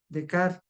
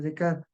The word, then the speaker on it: Descartes: Por supuesto que los existencialistas no se hacen esa pregunta, lo hace el razonamiento y eso fue Decar. Se escribe Descartes, René Decar, él lo hizo en el siglo XV.